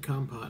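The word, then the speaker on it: kompot: it or not no i said com pot and that's how they're going to pronounce it now because that's how it should be pronounced just saying spell believe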